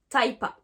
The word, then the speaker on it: typa: Donc sort of, sorta, type of, typa. Donc vous remarquez qu'en fait, à chaque fois qu'il y a la préposition of, la contraction se fait en A.